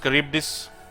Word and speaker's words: Charybdis: their bone model during the firing animations it's pronounced Charybdis well every now and then some wise guy